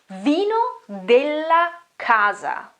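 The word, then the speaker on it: vino della casa: really don't know that is it spanish i think but this is not spanish this is italian so the right way to say that is vino de la casa vino de la casa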